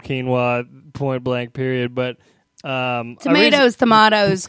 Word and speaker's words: quinoa: It's called quinoa, point blank, period.